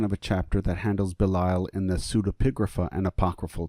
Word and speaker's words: Belial: the history of Belial, or Belial, which is how it actually is pronounced.